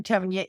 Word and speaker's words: Tonja: Hello, I'm Tonya and my name's spelled a little odd so I will spell it for you.